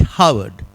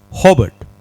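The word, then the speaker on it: Howard: I keep mispronouncing this. People hear Harvard. It ain't Harvard. This is Harvard. Got it? H-O-W.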